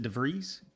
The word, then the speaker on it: DeVries: This Stephen DeVries, is that how you pronounce it, DeVries? Nailed it. You got it.